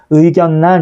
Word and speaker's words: 의견란: 그러니까 예를 들어 의견란 같은 경우에 앞에 있는 니은이 있고 뒤에 리을이 있는데 유음화 현상이 적용되면 의결란 이렇게 돼야 되는데 그렇게 발음이 안 된다는 거죠. 오히려 뒤에 있는 리을이 니은으로 바뀌어서 의견란 이렇게 발음되고 임진란, 생산량 이런 식으로